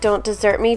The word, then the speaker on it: Don't Desert Me: red also next is don't desert me and this is a fuchsia shimmer this one's funny because it's actually pronounced like dessert like don't desert me don't abandon me but it's spelled like